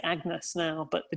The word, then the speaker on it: Agnes: a dairy to my daughter agnes or any as it would have been pronounced then and i i'm so